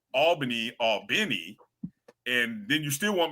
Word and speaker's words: Albany: See, and that's a problem because Albany all corn, but now you want me to call Albany all benny and then you still want me to figure out and remember to say all corn, not alorn.